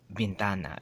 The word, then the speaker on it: ventana: Just for example, ventana. It's spelled the same way.